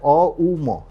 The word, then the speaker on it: ওম: তাই জন্য একচুয়ালি ওম হচ্ছে তিনটি ওয়ার্ড দিয়ে বলা হয় অম।